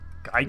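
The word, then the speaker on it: Giygas: cuz it was like his last name had the weird spelling with the Y and everything. Yeah, it's I think it's Gigas. So I I I call it gigas and then you found out stuff about the Japanese where it's gig so it's more likely gigas.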